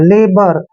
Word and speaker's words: LABOUR: और देखिए जहां पर ओ यू आता है आर से पहले, वहां पर ओ यू हमेशा साइलेंट रहते हैं, और आर को हमने रे पढ़ना है। लेबर, लेबर क्या होता है?